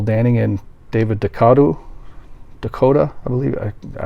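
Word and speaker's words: DeCoteau: and David de kado Dakota I believe it I I always used to pronounce it - co2 and I think it's pronounced dakota film from 1983 i'm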